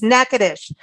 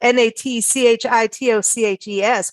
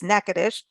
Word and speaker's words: Natchitoches: place and I can't pronounce it but it's nakadish and it's spelled n-a-t-c-h-i-t-o-c-h-e-s but it's pronounced so it's not Natchitoches it's nakadish it was founded in 1714 and it is